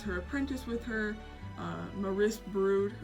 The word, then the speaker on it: Maris Brood: Apprentice with her uh Maris Brood or Morris brood I believe is how you say it um but yeah so